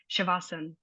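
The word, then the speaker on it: शवासन: you'll hear people say they might not pronounce the A on the end of like asana. You just hear like shavasana, and the A will become sort of a bit more silent, and that's just a variation of Sanskrit.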